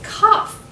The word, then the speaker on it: cough: find rough and tough okay how about this word how is it pronounced that's right it's cough do you see any other words with the off sound I'll give you a